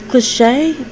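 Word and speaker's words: Clichy: france and please forgive me again if i mispronounce it cliche c-l-i-c-h-y elaine de france it's i-l-e ipe happened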